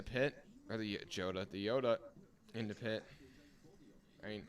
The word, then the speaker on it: Jota: that that's wild but Joda in the pit or the jota the Yoda in the pit I mean it's spelled jota but it's pronounced Yoda the Yoda for a